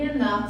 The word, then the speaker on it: enough: Presta atenção que esse enough, que quer dizer suficiente, a pronúncia é com som de F.